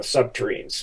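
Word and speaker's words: subterrene: sub turns uh uh subterranes which rhymes with submarines so you can remember it that's kind of my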